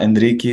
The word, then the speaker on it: Henrique: in promising startups and companies at crypto space Enrique really happy to have you here Constantine thank